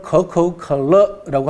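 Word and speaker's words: 可口可乐: 중국 발음으로는 커커컬러라고 합니다.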